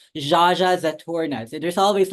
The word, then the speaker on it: Zsazsa Zaturnnah: How do you pronounce it? Zsazsa Zaturnnah. Zsazsa Zaturnnah.